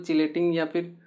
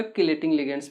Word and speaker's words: chelating: इनको कोई कोई चिलेटिंग या फिर कोई कोई आपका किलेटिंग लिगेंड्स भी बोलते हैं, ठीक है ना। तो प्रोनाउंसिएशन है, ठीक है ना, किलेटिंग वर्ड आप बोलिए, कोई दिक्कत नहीं है, ठीक है ना।